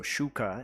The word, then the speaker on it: Xuca: The X is pronounced kind of like a sh. So Xuca, and Xucaboa just means little Xuca.